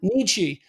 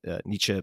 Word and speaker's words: Nietzsche: wondered i never know i pronounce it like northern albertan nietzsche i know that's wrong it's nietzsche i believe but i never get it